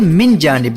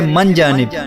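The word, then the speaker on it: من جانب: मुखा तो लिखते हैं मिन जानिब लफ मिन जानिब है और यार लोग कह रहे होते मन जानिब मन जानिब नहीं होता मिन जानिब होता है और एक और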